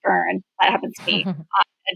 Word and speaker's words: Beirne: You know, so you would say like, "Oh, it's nice to meet you, Beernney." And I would say, "No, actually it's pronounced burn.